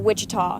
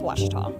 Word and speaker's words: Ouachita: Back in Texas, everybody pronounces it Wichita, but really, it's Ouachita.